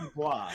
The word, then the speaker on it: Du Bois: Is it Du Bois or Du Bois? It is apparently Du Bois because he intentionally divorced himself from the French pronunciation of his given name.